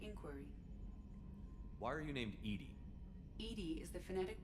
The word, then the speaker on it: EDI: have a specific inquiry why are you named Edy Ed is the phonetic pronunciation of e that is an acronym for